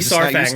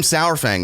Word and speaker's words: Saurfang: of like with World of Warcraft, Sourfang and Saurfang. Everybody says that differently. It's like it's that AU baby. It's gotta be Saurfang, right? Saurfang. I feel like I call him Sourfang though.